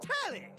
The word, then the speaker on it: Telly: The name's Telly rhymes with Nelly. Like, whoa, Nelly.